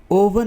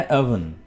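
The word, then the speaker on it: oven: ओवन नहीं है, लफ्ज़ है अवन।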